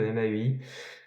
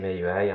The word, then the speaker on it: MAUI: dans mai program je suis désolé pour la prononciation de MIUI euh normalement c'est Mii he c'est de l'anglais euh mais je suis tellement